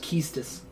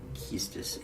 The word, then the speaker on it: Quistis: Quistis is pronounced Keistis. Keistis.